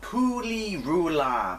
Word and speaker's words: Pu·Li·Ru·La: This is, I think it's pronounced Pooley Roula, but don't hold me to that.